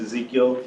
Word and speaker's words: Ezekiel: um my name is Ezekiel if you want to go by Spanish kind of pronunciation of it it's going to be I'm originally from Mexico